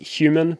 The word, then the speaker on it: HVMN: They pronounce it human, but it's with a V instead of the U.